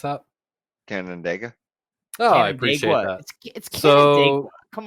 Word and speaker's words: Canandaigua: How do you pronounce that? Canandaigua.